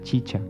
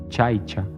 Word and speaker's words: chicha: Dijo que la elaboración de la chicha, que él pronunciaba chaicha, una bebida alcohólica elaborada